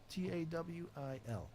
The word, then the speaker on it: Tawil: Tawil. Easier to spell than it is to say. Aha. Yes. And I have pronounced it wrong every time till now.